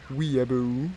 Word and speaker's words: weeaboo: all the kind of weebo skins you know weeabo weeaboo i should correct your pronunciation that's right yeah excuse